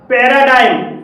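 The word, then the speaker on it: paradigm: पर जी साइलेंट है पैराडाइम पैराडाइम में जी के बाद एम आया है और यहां पर भी जी साइलेंट है तो इस तरह के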